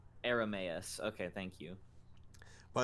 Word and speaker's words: Airamais: Aramus.